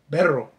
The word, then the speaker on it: Canserbero: Okay, let me make sure I'm saying it right. Canserbero. Canserbero. Canserbero. I said Canserbero. It's Canserbero. Berro. Berro. Canserbero. Because it ain't a double R.